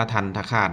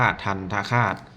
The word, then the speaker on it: ทันตฆาต: ที่ ใช้ ทัน คาต อัน นี้ อ่าน ว่า ทัน คาต นะ ทันตฆาต อ่าน ว่า ทัน คาต ตัว ที่ ใช้ ไม้ ทันทะ เรียก ว่า ตัว